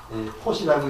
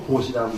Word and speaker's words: 보시: 그래서 그러니까 포시라고 있지 않고 보시라고 있고, 아까도 정편지라고 있지 않고 정편지라고 있고.